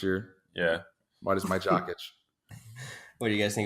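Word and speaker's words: Jokić: I don't know if that's how you pronounce his name, but I believe it's Jokic. I like to say Jokic. Like you're itching your jock.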